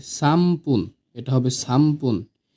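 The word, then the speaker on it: さんぷん: 3 minute সামপুন। সান পুন। এটা লেখার ক্ষেত্রে হয় সানপুন, কিন্তু এটার উচ্চারণ হবে সামপুন, ময় প রসুকার ন।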